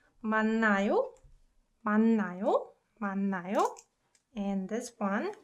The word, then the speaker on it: 맞나요: So 만나요 and 만나요, although they're spelled differently, they are pronounced exactly the same, right?